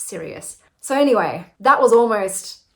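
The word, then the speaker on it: Cereus: it was spoken phonetically I would assume by the way it's spelled c e r e u s so that that would be how you say it but it's serious so anyway that was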